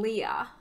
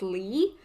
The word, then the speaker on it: Lea: And with Axel, because there's only 3 letters if you take the X off, I was saying Leah, but like written exactly like they said there, but I guess it's pronounced Lee.